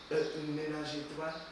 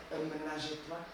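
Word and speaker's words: Ménage à Trois: So we got Menage a Trois. You gotta say it like French. You feel me? You gotta say it. Menage a Trois.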